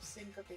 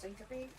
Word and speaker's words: syncope: I've always been told that it's pronounced syncope. I might honestly be pronouncing it wrong, but that's the way that I've been told, and that's the way that my doctors have pronounced it before, so.